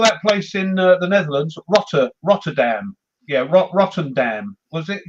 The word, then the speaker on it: Rotterdam: But yeah, or that place in the Netherlands, Rotterdam. Yeah, Rotterdam. Was it called it Rotterdam? What's wrong with Rotterdam? It's called Rotterdam. What's wrong with the way I say Rotterdam?